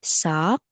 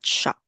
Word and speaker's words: sock: Not shock. Let's say sock. So let's remove the H or sh sound. So, but for that one, you can practice your pronunciation with the S sound.